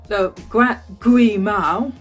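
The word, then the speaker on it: 癸卯: My voice is going because I've been talking a lot to camera, but that is basically what this year of the Gui Mao, say it correctly, the Gui Mao, the water rabbit, will be.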